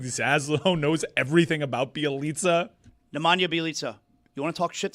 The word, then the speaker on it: Nemanja Bjelica: Nemanja Bjelica?